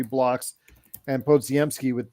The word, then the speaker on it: Podziemski: Podziemski. Podziemski.